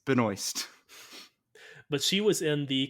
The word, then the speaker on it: Benoist: No, it's not Benoit. It's Benoist.